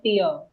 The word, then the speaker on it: tier: I already mentioned this earlier, but pronunciation of tire, it's not called tire, it's called tier.